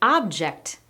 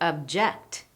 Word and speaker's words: object: An object is a noun, to object is a verb and we've switched which syllable gets stressed.